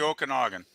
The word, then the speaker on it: Okanagan: It's the Okanagan. That's how you pronounce that.